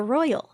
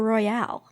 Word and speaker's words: Royale: it the Royal okay it's spelled like it would be the Royale but in the show they've always said the Royal oh God why can't